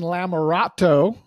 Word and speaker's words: Lamerato: thank you Rich well everybody that is Megan larat am I saying it right yes if not